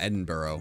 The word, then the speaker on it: Edinburgh: I mean, I have seen the Edinburgh. Or Edinburgh. It's Edinburgh, not Edinburgh. it's actually no.